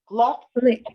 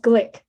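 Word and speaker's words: Glueck: our president dr nelson luck actually is pronounced glick flick and the faculty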